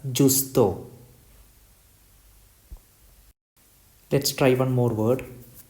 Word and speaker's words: giusto: It contains GIU, so it is pronounced as Justo.